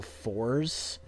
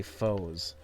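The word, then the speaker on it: Fourze: on this is is people say Kamen Rider fours because it's spelled that way but that's not how they say it they say foes and people say no it's foes a I'm like no you take off the a that's that's that's they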